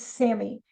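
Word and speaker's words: SAMe: it raises semi level which is like capital S capital a capital m and lowercase e it's semi okay that that's how you pronounce it and and this is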